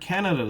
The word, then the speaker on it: Canada: in the word canada though which syllable is stressed in this case it's the first syllable it's canada canada ah but it's not